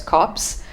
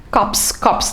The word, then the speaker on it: corps: The P is silent there.